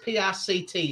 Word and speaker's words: Pict: They're basically following the Pict or Pit, however you want to call it. It's Pict, so however you want to pronounce it.